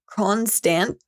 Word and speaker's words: Kronstadt: So in 1459, it said that he actually executed dozens of Saxon merchants in Kronstadt is how you say it, who were aligned against him.